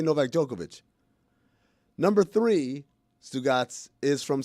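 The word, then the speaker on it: Novak Djokovic: Even though it ends with a C, we say NovakJokovic.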